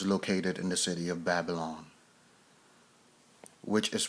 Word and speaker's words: Babylon: The shrine was located in the city of Babylon, which is pronounced Bab-El, which pretty much means the city which is the gateway of the gods.